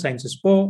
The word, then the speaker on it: Sciences Po: which is in uh it's actually pronounced in french cern sport but i am not a french so i will tell you like the way indians pronounce sciences po i will do that